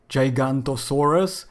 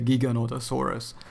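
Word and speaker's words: Giganotosaurus: would like to correct saying that it's not gigantosaurus it's a Giga and Otto Soros or gigolotesaurus whichever way you prefer to pronounce it but I say Giga nota Soros now I think it's a bit more correct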